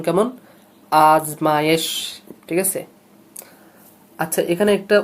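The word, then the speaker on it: آزمائش: আচ্ছা, আজমায়েশ, আজমায়েশ শব্দের উচ্চারণ কেমন? আজমায়েশ, ঠিক আছে।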